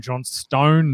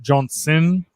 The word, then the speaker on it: Johnstone: I'm your host, J.A., and I'm joined by a couple of legends in the studio, Richie Garraway, Darren Johnstone, not Johnson.